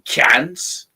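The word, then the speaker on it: Cairns: um I was in a a hostel in cans uh it's it's spelled Karn with an R but it's pronounced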